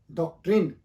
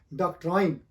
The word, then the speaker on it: doctrine: डॉक्ट्रिन, this word is अ डॉक्ट्रिन, not this word is अ डॉक्ट्राइन, डॉक्ट्रिन।